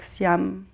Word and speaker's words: Siham: C'est un peu difficile pour moi de toujours partager c'est pas dans mes habitudes, mais c'est mon nom, donc Siam. Siam pour ceux qui prononcent le H.